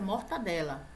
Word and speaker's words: mortadela: exemplo aqui mortadela né galera mortadela não tem esse Gene aqui a pronúncia mortadela pichou pixador também eu